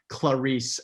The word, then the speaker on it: Clarice: we've already mentioned but the two syllables of clarity like even the choice of name by harris is genius because it starts with this hard consonant sound clarisse and then it kind of turns into this hiss and in the book